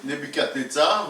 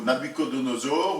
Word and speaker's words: Nebuchadnezzar: le roi là dont le nom est difficile à prononcer, Nebuchadnezzar ou Nabucodonosor, ou enfin il y a 4 prononciations différentes possibles. Vous choisissez celle qui vous convient le mieux.